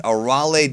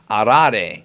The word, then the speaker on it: Arale: Anyways, Arale does the intro here for the Super preview. And yes, if you pay attention to how she pronounces it, it's Arale, not Arale. Arale was the English dub name, and I've already got